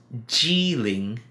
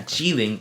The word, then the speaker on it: Jilin: Okay, so Kirin here is Jiling. Oh, it's Ling, the second Ling, yeah, Jiling. And the Japanese pronounce Ji Ki. So you can see either the Europeans went to the Japanese or to the Chinese, it doesn't matter, but they got Kirin from that.